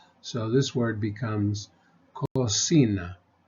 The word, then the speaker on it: cocina: k sound and then the C before the I we give it the S sound so this word becomes cosina cosina Cuba Carro Cocina the